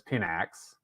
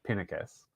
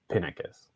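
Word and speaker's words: Pinakes: pronunciation i believe was pinnicus the emphasis on the the first syllable so but if you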